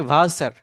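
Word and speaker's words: Wasser: আমি যদি এখানে একটা সেন্টেন্স সাজাই, সেখানে কি হুম, হচ্ছে, ইস ট্রিঙ্কে ভাসার, আমি পানি খাই। ওটা ভার্সেন হবে না, ভাষা।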